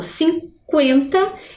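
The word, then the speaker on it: cinquenta: Diferente lá de quando eu falo parque, né? Olha, 50. O som é bem diferente.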